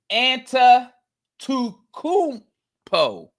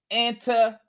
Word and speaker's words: Antetokounmpo: See, I gotta look at Giannis' name if I want to spell it, say it correctly, right? Giannis Antetokounmpo. Giannis Antetokounmpo.